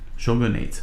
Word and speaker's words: Shogunate: Shogunate. Okay, so that is the correct pronunciation in English.